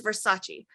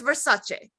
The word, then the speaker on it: Versace: And she goes, "Everyone says Versace," and she goes, "The name is Versace."